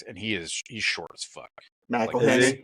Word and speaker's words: McElhenney: And then there's Rob McEwen sitting like right there next, and he's short as fuck. McElhenney.